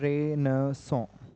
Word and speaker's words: Renaissance: तो जो topic is रेनेसा। Okay, pronunciation क्या होता है इसका? इसका प्रोनाउंसिएशन होता है रेनेसॉ। Okay, it's a French word, French language का वर्ड है और इसका मतलब होता है रेनेसॉ।